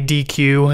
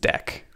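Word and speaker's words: deque: I called this a a dq in the previous video, but whatever. I'm pretty sure it's pronounced deck.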